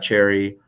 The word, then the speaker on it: Cherre: If you want to learn more about Cherry, our website is available. Most people, because I pronounce it cherry like the fruit, misspell it.